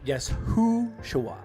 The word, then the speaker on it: Yeshua: I kind of butchered that. I'm sorry. Yes. Uh yesua.